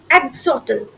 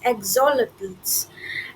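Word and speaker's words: axolotls: एक सेकंड अच्छा मैंने गलत प्रोनाउंसिएशन किया था। यह है ए एक्स ओ एल ओ टी एल एस एग्जोलेटल्स। एग्जोलटल्स।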